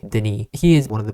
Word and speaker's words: Denis: His name is spelled Dennis D E N I S, but since he's from Canada, he wants us to pronounce it the French way. Denny.